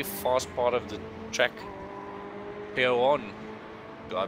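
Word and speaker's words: Pouhon: to a very fast part of the track, Péon. Do I pronounce that right, Jason? Péon, yeah.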